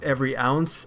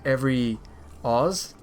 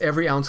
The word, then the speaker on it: EvryOz: Alright, so the name of the company, for those that don't know, is Every Ounce. A lot of people pronounce it as Evryoz, but it's not Oz, it's ounce. So it's Every Ounce Clothing, and the reason